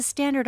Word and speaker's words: standard: 발음 여기 D가 안 들리고 그죠?